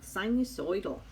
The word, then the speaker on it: sinusoidal: Sinusoidal. You got to say it like you're from New Jersey, which my mom was.